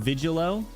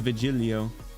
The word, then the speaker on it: Vigilo: the flip up crazy it's called vigilo like Operator Operator o oh I oh I always thought it was viilo you know like you say it like you like you're at like an Italian restaurant like you're ordering some pasta you pinch your fingers like vilo that kind of thing